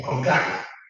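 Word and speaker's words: cónclave: Yo lo pronuncio en latín, en conclave, ¿no? Conclave. Conclave porque es los cielos.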